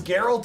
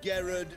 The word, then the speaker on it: Geralt: Phineas and Gerard of Rivia. It's Geralt. He's gotten my name wrong 2 different ways.